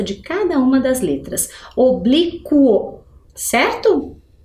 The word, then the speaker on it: oblíquo: lá a palavra é oblíquo Vamos ler o oblo eu escutei a vogal u ali no final no meinho entre a letra q e a letra o sim né então portanto eu